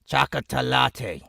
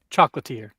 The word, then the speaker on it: chocolatier: Chocolatey. She makes chocolate. Chocolatier. Chocolatier. Okay.